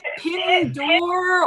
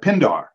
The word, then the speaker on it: Pindar: Pindor or Pindare. Pindar. Okay, so I would have gotten it wrong P-I-N-D-A-R.